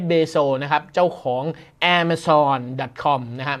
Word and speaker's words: Amazon: นะ ครับ เจ้า ของ แอร์ เม ซอน ดอท คอม นะ ไม่ ใช่ ร้าน กาแฟ อเมซอน ออก เสียง หรือ อย่าง นั้น ไม่ เหมือน กัน นะ แอ มะ ซอน กับ Amazon คน ละ อย่าง กัน ที่ 3 บริษัท นี้